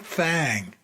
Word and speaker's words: Thang: But apparently you're supposed to spell and pronounce, thing as thang when you talk about the Alabama White Thang.